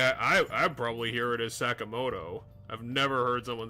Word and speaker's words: Sakamoto: I'm Sakamoto.